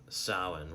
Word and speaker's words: Samhain: Halloween's origins date back to ancient Celtic festivals of Samhain, pronounced Samhain, whatever.